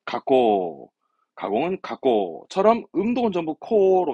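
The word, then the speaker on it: 加工: 발음은 가꼬, 가공은 가꼬처럼 음동은 전부 코로 갑니다.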